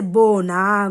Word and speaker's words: बौना: तो ओ यानी कि जैसे जीरो होता है ना, जीरो की तरह मुंह खुलता है, लेकिन इसमें देखिए दोनों मात्राओं के उच्चारण में अंतर होता है। कैसे? मुंह खोल के बोलेंगे, बौना, गौरी।